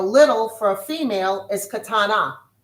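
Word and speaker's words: קטנה: And for a little, for a female is katana.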